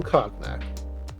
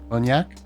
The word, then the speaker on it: cognac: I don't mean to correct you, but I think it might be cognac. You're right. Oh, My apologies. What? How do you pronounce it? Cognac? Cognac. It's literally cognac. Yes, The but a lot of N- things are spelled oddly. The N goes after the G, not cognac.